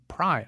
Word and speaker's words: Prai: It's called Prai. I think that's how you say it, P-R-A-I.